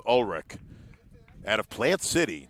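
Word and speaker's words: Ullrich: Lennox Olrich out of Plant City. Actually, Olrich, that's what we'll go with. U L L R I C H. Evidently pronounced Olrich out of Plant City, not very far from Tampa.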